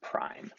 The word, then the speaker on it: prime: conservation equation like this you'll see an apostrophe after the ending velocity of both objects that's pronounced prime so you would pronounced this m1 v1 prime and m2 v2 Prime I actually like to